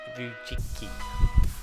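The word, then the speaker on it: Vujicic: His name was Nick Vujicki, I think. Vujicki or something like that. I can't pronounce his last name. It's Vujiccic, okay?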